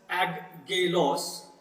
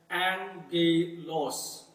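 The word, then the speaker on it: ἄγγελος: So it will not pronounce as aggelos, but it would rather pronounce as angelos.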